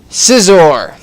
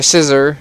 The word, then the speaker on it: Scizor: But anyways, number 3, Scizor. Or Scissor, however you want to pronounce it. I like Scizor because that sounds better to me.